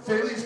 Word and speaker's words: Faley: he told me now it rhymes with Bailey's.